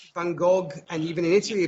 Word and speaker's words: Van Gogh: here playing soccer, and the G is always pronounced as an H. Yeah, one of the things when I first watched this is, I'd always heard Vincent van Gogh, right?